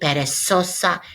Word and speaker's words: perezosa: lazy has a Z, perezosa has a big old Z in it, and that'll help you make the connection. Reminder, Z's always pronounced like S's, perezosa.